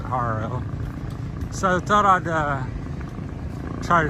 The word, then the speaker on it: Jaro: We're over in, coming up from Jaro, which is Haro. I say Jaro because it starts with a J, but they pronounce it Haro.